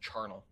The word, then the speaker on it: charnel: Carnal house is implying something very different. Okay. Oh. How do you pronounce it? So without the H. The Cambridge Dictionary says it. You pronounce it charnel.